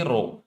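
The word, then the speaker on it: rho: row it is called pronounced as row which stand for density volume is 4x3 R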